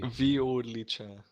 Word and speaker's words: Violica: There's a little pronunciation thing. It should be Violica.